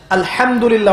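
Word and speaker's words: الحمد لله: আলহামদুলিল্লাহ অর্থ মানে কি? এখানে যে হা আছে, এটা কি বড় হা না ছোট? হুত্তি না হাওয়াস? হায়ে হুত্তি, এটাকে বলে বড় হা।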